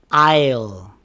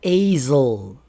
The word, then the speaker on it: isle: Island isle. Not asil.